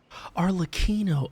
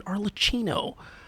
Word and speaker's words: Arlecchino: a new name arlino arlino oh I've been saying the name wrong this whole time I've been saying arcino my bad but seriously